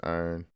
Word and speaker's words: Aaron: Like the AR just sounds like an ER. So Aaron is Ern.